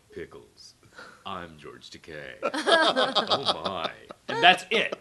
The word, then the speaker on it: Takei: And it's George Takei. Takei. Is that how you say it? I had to research that. I didn't know if it was Takai or Takei or what.